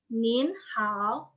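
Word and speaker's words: 您好: Yang pertama itu ada nin hao. Nin hao. Nin-nya tanda nin hao. Nin hao. Karena emang dari sananya nin itu ton 2. Nin hao.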